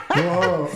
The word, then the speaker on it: WaRoho: WaRoho.